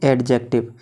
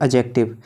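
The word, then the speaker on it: adjective: Number 3 पे आता है हमारा एडजेक्टिव, जिसे बहुत से लोग पढ़ते हैं एडजेक्टिव, लेकिन दोस्तों इसकी सही प्रोनाउंसिएशन होती है एडजेक्टिव। जब कभी भी ए और जे के बीच में डी आए तो डी हमेशा साइलेंट रहती है।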